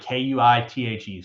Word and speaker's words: Kuithe: It's like Kuithe, so like it's pronounced like Keithy. How much like harder and cooler is a name Brant Quaith?